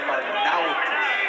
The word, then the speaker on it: Arnaoutis: We hear Arnaoutis, Arnaoutis. It's Arnaoutis.